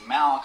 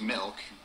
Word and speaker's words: milk: No, you're saying it wrong. You're saying Malk. Like it's a disease. How do you say it? I'm saying it the way everyone ought to say it. Milk.